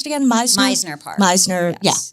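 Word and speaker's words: Mizner Park: In, how do we pronounce it again? Meisner Park. Meisner, yes. Meisner Park.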